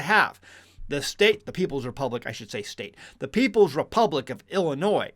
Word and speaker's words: Illinois: The People's Republic of Illinois, or Illinois, if you're from where I'm at, that's how they pronounce it in St. Louis.